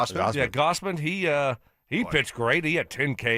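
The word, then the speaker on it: Gausman: Gossman. Kevin. Yeah. Gosman.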